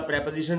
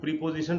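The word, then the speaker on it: preposition: इसको ये वही ग्रामर वाला प्रेपोजिशन है जिसको हम लोग प्रीपोजिशन पढ़ते हैं। प्रीपोजिशन गलत उच्चारण है, हमको प्रेपोजिशन बोलना चाहिए।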